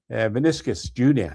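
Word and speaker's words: Vinícius Júnior: Vinicius Jr., that's how he pronounces his name.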